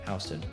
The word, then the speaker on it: Houston: Yes, if you live in Hston County, Georgia, it's pronounced Hston, not Houston.